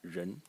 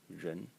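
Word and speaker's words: 人: And the semantic element is this character over here, pronounced ren, ren, and it's a person, person.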